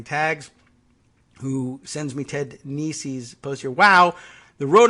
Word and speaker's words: Nesi: Ted Nesi, Nesi, has been Nisi. Oh, thank you for putting pronunciation in your Twitter bio.